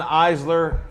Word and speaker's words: Eisler: The E's silent, so people usually Okay.